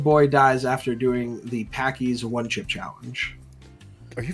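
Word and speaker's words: Paqui: 14-year-old kid died after doing the Packy's one chip challenge, which caused the company, I think it's pronounced Packy's, right? Packy. Yeah, P-A-Q-U-I.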